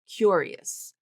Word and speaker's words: curious: So she's using that top pronunciation cure. Cure. Cure. Cure. Curious. Now, if you look at the spelling of that word, um, that last syllable is o us. So, it's going to be tricky, right? Because she's not pronouncing it like o us. She's not saying o. She's saying is is.